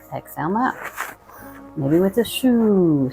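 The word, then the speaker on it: shu: Anytime throughout this practice, you can use the healing sound of wood, which is S-H-U, kind of pronounced shoo.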